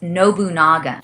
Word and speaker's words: Nobunagun: I pronounced it wrong too, and the director had to correct me incessantly. Apparently, it's Nobunaga, and you did say 6 right.